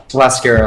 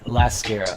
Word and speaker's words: Lascara: pronounce it is lascara lascara like mascara with an L LA lascara okay okay so you